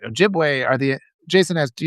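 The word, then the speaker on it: Ojibway: The uh Ojiua. Ojiway. I got to say it right. Ojiway.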